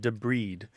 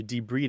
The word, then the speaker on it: debride: e b r i d e but it's pronounced debed and it's removing damaged tissue from uh or or trash or foreign objects from a wound or a cut and so you de breed it like for example if you get a